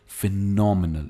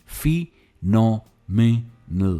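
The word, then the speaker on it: phenomenal: The view from the 70th floor was फिनोमिनल। इसकी pronunciation है फिनोमिनल, फिनोमिनल।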